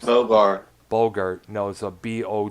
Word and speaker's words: Bogert: robert delong lowlands Oh on the vocals tim Bogart Boger excuse me Bogert I've had trouble pronouncing last names though bar Bogert knows a bo g ERT a bogan Bogart